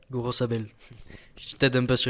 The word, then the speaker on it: Gorosabel: Et côté droit, Gorosbay. Gorosabel. Je t'aide un peu sur les prononciations.